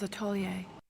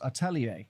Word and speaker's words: atelier: Um a weird weird weird moment. a really really strange strange pronunciation.